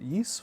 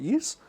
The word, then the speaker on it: Ys: next game in the yeast franchise I think that's how you pronounce it is it East it's just spelled Ys but I've only ever heard it pronounced East okay it is I